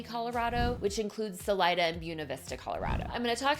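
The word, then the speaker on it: Buena Vista: I also have a video about why I'm pronouncing it Buuna Vista, Colorado.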